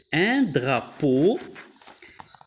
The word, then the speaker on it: drapeau: Alors, E-A-U, on a dit que E-A-U se prononce O. Un drapeau.